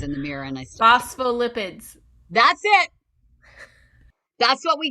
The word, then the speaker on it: phospholipids: that renee how do you say it phospho phospholids phosphates i practice this 10 times in the mirror and i phospholipids that's it that's what we got it's made